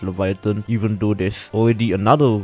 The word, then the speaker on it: Laevateinn: it is called leviathan it is spelled very weirdly some people like to say laverton but then for now for this video we're just going to pronounce this leviathan even though there's already